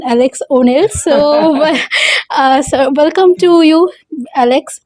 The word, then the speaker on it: Alexx O'Nell: সেখানে দাঁড়িয়ে আজকে আমার সাথে রয়েছে অ্যালেক্স এন ওনেল, sorry pronunciation, Alex O'Neill.